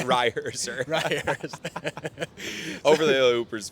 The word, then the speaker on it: Reiherzer: Yeah, so it's Reihurst? Reiherzer. Reiherzer, okay.